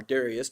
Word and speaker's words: Darius: um after Das by the way or Darius depending on which way you want to pronounce it. Both I think are legitimate.